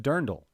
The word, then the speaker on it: dirndl: saying uh-huh yeah uh it's pronounced dirndl jose dirndl dern dull dirndl that's what the ladies